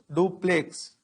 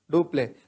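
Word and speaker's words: Dupleix: one governor comes french governor his name is duplex so how do you pronounce it it is so just like robert clave who is the governor of english in india duplay was the governor of french in india do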